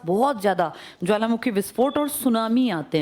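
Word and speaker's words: tsunami: इसके आसपास बहुत ज्यादा ज्वालामुखी विस्फोट और सुनामी आते हैं। सुनामी किस भाषा का शब्द है? हां। इसमें टी साइलेंट है।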